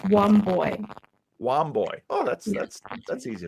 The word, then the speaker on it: Wambui: It's pronounced Womboy.